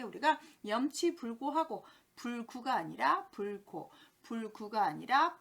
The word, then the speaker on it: 염치불고: 마지막 염치불구하고 라고 표현할 때 쓰는데 아까 체면불구, 염치불구 우리가 고자를 계속 구발음을 하는 경향이 있네요. 보시면 염치불고하고 라고 표현을 하셔야 됩니다.